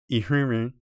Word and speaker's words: ihrenre: Rihanna is spelled with an H after the R-I, so you can use this to help remember the H sound at the beginning of ihrenre.